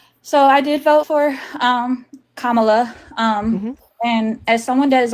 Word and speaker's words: Kamala: did not, please forgive me and help me pronounce her name. Sorry. It's okay. It's Kamala. It's okay. Mhm. Yes. So I did vote for Kamala.